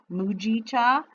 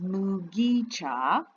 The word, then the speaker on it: mugicha: was making the video i was saying it with a soft g mujicha but it is mugicha i got this from